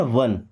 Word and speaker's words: won: WON, इसे भी पढ़ते हैं वन।